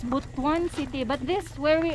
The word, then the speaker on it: Butuan: pronounce this city again i forgot how to pronounce it it's bhutton city but this where we are it's not